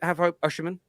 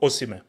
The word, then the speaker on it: Osimhen: I think is that how you pronounce it, Osimhen? No, Osimhen.